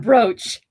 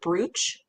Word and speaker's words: brooch: he's wearing a brooch we should call him broach some people pronounce that word brooch I know that's how it's spelled I didn't